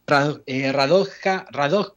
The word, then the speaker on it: Radoja: Radoja, lo pronunciaste perfecto.